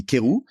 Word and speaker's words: Querou: If you want the pronunciation like perfect, it would be Querou.